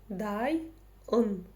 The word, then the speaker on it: дайын: Просто помним о том, что буква «ы» читается очень коротко. Ну, хотя в данном случае можете представить, что ее нет.